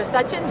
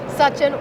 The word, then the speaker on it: Sachin: to be with you thank you for pronouncing my name the way uh my parents intended for it to be pronounced I appreciate that you're welcome